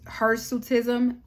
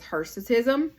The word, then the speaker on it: hirsutism: is also called her her suitism please forgive me if I'm not saying that right but I do believe the proper uh pronunciation is hirsutism um you also can